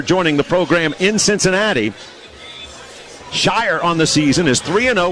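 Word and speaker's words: Scheurer: It is Brandon Shire. I'm sorry. It's pronounced Shire. S-C-H-E-U-R-E-R. Pronounced Shire.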